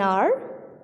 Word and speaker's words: hour: For example, an hour, an honest man, an honorable lady. Here the H is silent, so we are making the sound of a here.